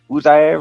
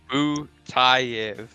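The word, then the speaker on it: Butaev: Budiev or It's Butayev. Butayev, right? Not I guess it's because of the Butayev, guys.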